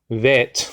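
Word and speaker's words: בית: B but it's called bit even though it can be a v it's still bit you know and um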